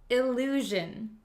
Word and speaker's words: illusion: it this word is illusion illusion illusion illusion it has the same ZJ sound measure illusion so an illusion is